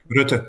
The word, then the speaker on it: Rutte: Rutte, yeah.